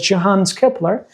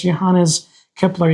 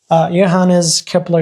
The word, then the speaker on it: Johannes Kepler: was the name of the scientists sometimes we pronounce it as Johans Kepler but the correct that is okay I believe even though the correct pronunciation is Johannes Kepler you could say and then these scientists Nicholas